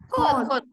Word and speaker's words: 꽃: Kot.